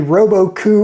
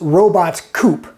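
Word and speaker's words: Robot-Coupe: I first encountered a Robo-Coup in culinary school, and of course I had no idea what it was or how to say the name. I thought it was Robot Coupe, but it's not.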